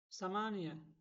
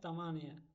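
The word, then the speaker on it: ثمانية: বাদ নুস হবে না সামানিয়া সামানিয়া অর্থ আট এখানে বলা হয় তামানিয়া তামানিয়া বলা হয় এটা ভুল আরো একটা শব্দ আছে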